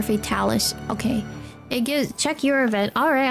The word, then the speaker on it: Fatalis: It's fate Alice when you say it though. Like the word fatal for fatalis.